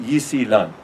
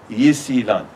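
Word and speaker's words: 伊斯兰: But you'll pronounce it Yisilan, Yisilan.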